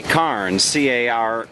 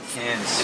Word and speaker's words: Cairns: here, and it's it's I would say Cairns, Cairns, but you guys don't. You leave off the R. How do you say it? Cans. It's cans. Cans. We follow the eye. It's Like I want to go. Can of beans. I don't care. Like cans of beans, right?